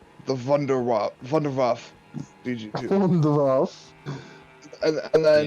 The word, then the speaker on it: Wunderwaffe: And I was telling Brett earlier that the Germans don't pronounce W's, they pronounce W's as V's. I mean, I already know So this. the Wonderwaffe. I'm telling Brady. Oh, The well. Wonder Wasp EG2 from Zombies, babe, Yeah.